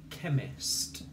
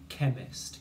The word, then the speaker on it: chemist: And we've got a k sound there already that we recognise, the ch spelling of k.